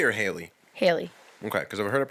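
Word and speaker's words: Halley: you okay he always comment correct is it Halle or Haley Haley okay because I've heard it pronounced both ways I've always known it as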